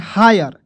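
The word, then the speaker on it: hire: है फायर फायर देखिएगा एच आई आर ई हायर देखिएगा एच से हा होगा आई आर ई आएगा तो उसका उच्चारण आयर के रूप में हा य और र ठीक है हायर ठीक है जैसे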